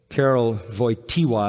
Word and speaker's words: Karol Wojtyła: After the death of his mother, when he was 8 years old, Karol Wojtyła is how you say his name, the Pope that died.